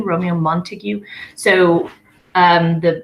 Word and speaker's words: Montague: are the Montagues a Montague Romeo Montague so the the mispronunciation we see a lot with heaviness Montague let's say it's a Montague but it's Montague that last syllable there's like you next one is Benvolio